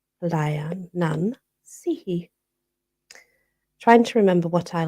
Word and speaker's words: Leanansidhe: It is spelt Leanansidhe, but it's pronounced Lianan Sihi.